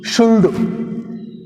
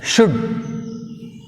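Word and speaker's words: should: Some students are pronounce వుల్డ్, కుల్డ్, షుల్డ్. మీరు ఇట్లా పలుకుతుంటారు. ఈ కుల్డు, షుల్డు, ఉల్డు అని ఎల్ పలికినప్పుడు హౌ కెన్ we identify, how కెన్ you identify silent letters? నీకు ఎట్లా దొరుకుతాయి చెప్పండి? ఆ సైలెంట్ దాన్ని పలుకొద్దు. మళ్ళీ మళ్ళీ చెప్పేది అదే నేను. వుడ్. వుడ్ which is silent, L silent. కుడ్, ఎల్ is silent. షుడ్, L silent.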